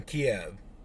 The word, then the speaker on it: Kiev: vlad goes he was born in kiev that is the proper pronunciation where he's from you